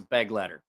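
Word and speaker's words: Begleiter: Somebody's like, it's pronounced this. I'm like, great. It's pronounced Beglieder. I'm like, great. I don't care. Like, you're not going to get me to pronounce it that way. It's a beg letter.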